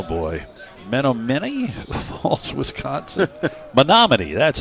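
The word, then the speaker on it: Menomonee: junior from oh boy men mini false Wisconsin monoman that's how it's pronounced yeah monoman Falls Wisconsin first pitch is ball one well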